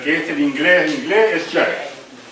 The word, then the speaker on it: Yale: En norteamericano, pero en lo que es el inglés es Yale. La A es EI. Así se pronuncia.